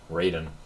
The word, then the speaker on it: Raiden: raen raen raen raen like Raven but with a t Raiden who Shiro uh me